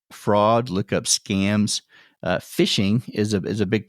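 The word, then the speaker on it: phishing: um in another podcast but it's spelled pH I sh iing G it's it's like fishing but with a pH instead of an F that's what um bad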